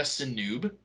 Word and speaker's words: Sinube: Um, his name is Tara Sinub. Sinub, yeah, Tara Sinub. I don't think it's pronounced Sinube. There's like a silent e at the end.